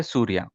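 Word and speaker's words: Suriya: It's same like the Surya Kumar Yadav, but Okay, spelling is different, but still the pronunciation will be same. It's called Surya. You can say Surya. The spelling is Surya, but when we say it fast, we say Surya.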